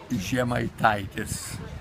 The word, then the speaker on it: Zemaitaitis: I can't even pronounce his surname will you pronounce your surname she might Titus okay now this tell me about your early